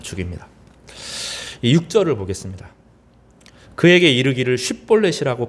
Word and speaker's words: 쉽볼렛: 그에게 이르기를 쉽볼렛이라고 발음하라 하여 에브라임 사람이 그렇게 바로 말하지 못하고 십볼렛이라 발음하면 길르앗 사람이 곧 그를 잡아서 요단강 나루턱에서 죽였더라.